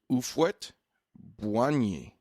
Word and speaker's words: Houphouët-Boigny: I looked it up, and it looks like it's pronounced Ufwet Boigny.